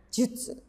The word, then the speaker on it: 術: Ya, diingat-ingat ini dibacanya jutsu.